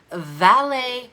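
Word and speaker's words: Valais: of the month, and you spell it valet. It is spelled V as in Victor, A-L as in Laura, A-I-S as in Sam. I know, it doesn't sound like it's spelled at all. I'm so sorry. V-A-L-A-I-S. Sheep.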